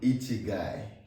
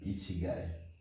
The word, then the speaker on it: ikigai: And today we're going to be talking about a very interesting concept called Ichigai.